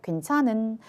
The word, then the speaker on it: 괜찮은: 히읗이 모음 앞에서 탈락했습니다. 그러니까 정답은 2번이 되겠죠. 괜찮은.